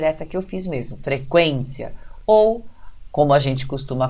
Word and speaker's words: frequência: Então, a gente sempre vê assim, frequência. Então, a gente está vendo aí que a sílaba quen, que é a penúltima dessa palavra, é a tônica.